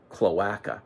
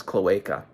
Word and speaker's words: cloaca: I occurred to me I didn't really know how to pronounce cloaca and I had to re-record all of the narration because I had been saying cloaca so that that just shows to you I am no expert I actually had been pronouncing the word wrong for the the last two or three years while I've been following beavers so the word is cloaca but going along with